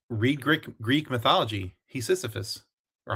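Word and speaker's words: Hephaestus: Hephus or how do you say that dude's name is?"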